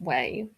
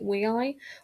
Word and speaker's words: WEI: I always think it's pronounced Way, but I watched a bloke who actually has a lot of K-pop albums pronounce it WEI, which would make more sense given how it's spelled.